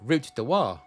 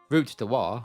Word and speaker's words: Route du Roi: Over time, though, route du roi morphed into Rotten Row, most likely due to Londoners butchering the French pronunciation.